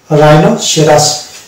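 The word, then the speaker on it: rhinoceros: H silent থাকছে এবং রাইনো সেরাস এখানেও এইচ কে আমরা সালেট পাচ্ছি তাহলে আমরা আর এইচ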